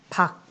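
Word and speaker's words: 밖: 박. 이 쌍기역 마찬가지로 그냥 기역, 박이라고 적어줘야 되죠. 솥.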